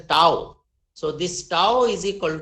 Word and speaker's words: tau: It is represented by a Greek symbol which is pronounced as a tau.